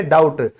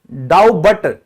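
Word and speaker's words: doubt: डाउट। डाउबट, डाउबट नहीं बोलते ना, तो क्यों? इसको डाउट कहा जाएगा, बी साइलेंट है।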